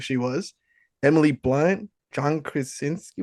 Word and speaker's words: Krasinski: Emily Blunt, John Krasinski. How do you pronounce his last name? I would be absolutely Krasinski.